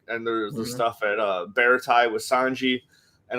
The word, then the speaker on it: Baratie: It's Baratie.